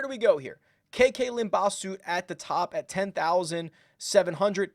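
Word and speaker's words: Limbhasut: KK Limbaugh Soot at the top at 10,700, Dylan Wu 10,400, Jeremy Paul 10,002, and Matt Picanso. I will also mispronounce a lot of names during this. Limbaugh Soot is correct, though.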